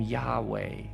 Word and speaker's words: Yahweh: Now, some pronounce the name Yahweh or Yahweh, although in many traditions, the name isn't even pronounced because it's considered so sacred, so mysterious, so holy.